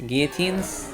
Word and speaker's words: guillotine: You don't pronounce the L in guillotines? Guillotines?